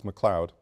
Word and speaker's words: McLeod: And the spelling is correct and the pronunciation is correct. It's McLeod.